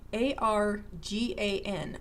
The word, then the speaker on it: argan: Get yourself some argan oil, okay? A-R-G-A-N, argan or argan oil, okay? I've heard it pronounced both ways.